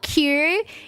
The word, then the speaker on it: Quay: It's spelled Quay. Okay? That's how you spell key.